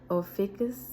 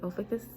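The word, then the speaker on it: Ophiuchus: want to make sure I say it right ofus okay ofus and it's spelled o p h i u c h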